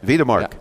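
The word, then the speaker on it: Wedemark: Wiedemark, because it's a W, so I have to say V. I have to remember that, like Volkswagen. You know, we'd say Volkswagen in the States, but Wiedemark, Germany.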